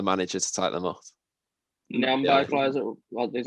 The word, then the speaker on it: Nyambe: Nyambe plays is that how you pronounce his name, right? At the right back. Yeah, Nyambe.